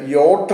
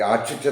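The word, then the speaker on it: yacht: machine engine ഉപയോഗിക്കുന്നതൊക്കെ പറയുന്നത് അതിന് യോട്ട് എന്നാണ് പറയുന്നത് യോട്ട് യോട്ട് എന്നേ പറയാവുള്ളൂ അല്ലെങ്കിൽ യാഷിച്ച് എന്ന് പറയാനായിട്ട് പാടില്ല അപ്പൊ ഞാനിപ്പോൾ മൂന്ന് നാലഞ്ച്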